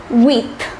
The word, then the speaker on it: huit: Number 8 is weeth.